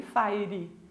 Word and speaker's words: fire: Vocês jogam Free Fire, não Free Fire. A palavra fire quer dizer fogo ou então tiro. E a pronúncia dela é fire. Então se joga Free Fire, ok?